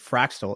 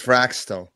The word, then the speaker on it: Fraxtal: chain AKA fractal fractal is it fractal or fractal it's fraxel fraxel fra fraxel we just call it fractal but spelled with an X I think it's fraxel okay so we're going